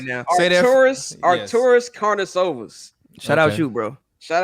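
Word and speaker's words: Artūras Karnišovas: Shout out you for learning how to pronounce that man's name correctly, because can you say that again for us right now? Arturas Karnisovas.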